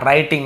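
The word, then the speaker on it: writing: हैं पढ़ना रीडिंग लिखना राइटिंग यहां पर डब्लू साइलेंट होता है कि एवं राइटिंग बटन डब्लू को नहीं पढ़ते लिखते समय तो निकालना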